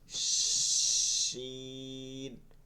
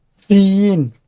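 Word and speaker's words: شين: সিন, না, এটা জিহ্বাটা আপনি দেখেন, আপনি নিজেই দেখেন জিহ্বাটা কোথায় আসতেছে, দেখেন তো বলার সময় আপনি নিচে এখানে আসে কিনা, এখানে আসলে আপনার উচ্চারণটা সিন হয়ে যাচ্ছে।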